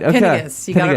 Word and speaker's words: Pinigis: We have here, Pinigis. Wait, I said it wrong now on air. You said I did. right. Okay. You said it right.